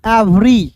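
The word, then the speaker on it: every: ई है तो इ का उच्चारण ए के रूप में भी करते हैं और ई का उच्चारण ई के रूप में भी करते हैं। तो यहां पे दोस्तों ई का उच्चारण ए के रूप में कीजिएगा। तो ई भी ई आर वाई को क्या पढ़ेंगे दोस्तों? एवरी।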